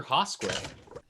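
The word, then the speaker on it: Hosquith: is a tiny little goblin thief named professor haskway um also a randy quaid character and uh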